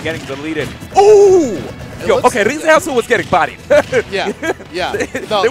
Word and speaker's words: Rizeasu: Rizeasu.